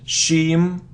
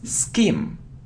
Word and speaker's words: scheme: It isn't shim. Shim. No, it isn't shim. It's scheme.